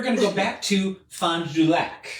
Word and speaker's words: Fond du Lac: So I think I'm pronouncing that right. Fond du Lac? Fond du Lac. Fond du Lac. Fond du Lac. That is 3 words. It's not. I'm kind of mashing it together, but Fond, F-O-N-D, space, D-U, space, lac, L-A-C.